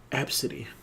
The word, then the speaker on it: ABCDE: the daughter's name is spelled ABCDE and it's pronounced AB City that sounds do oh no it's it's it's